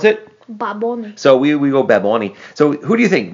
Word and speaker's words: Bad Bunny: and and i have been told you've been told i would pronounce it bad bunny and i've been told that is wrong that's